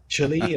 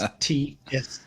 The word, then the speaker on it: Tshili: My name is spelled a bit like a Wi-Fi password, so I must spell it out for you. So it is Tshili, and it's Tshili, and it's Khupe, Khupe.